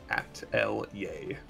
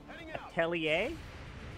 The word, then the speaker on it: atelier: No, impossible. It's 3 syllables. At L yay. L yeah. That's what's the... not. It's not an English word. Atelier. It's at L yay. Atelier. Just at L yay. 3 syllables.